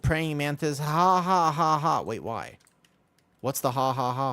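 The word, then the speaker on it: ห้า: Ha ha ha. Wait, why? What's the haha for? Did you know in Thai the number five is pronounced ha?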